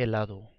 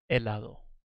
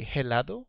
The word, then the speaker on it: helado: going to be iced tea Oh el de helado iced tea ed de helado you say el a a lado l pay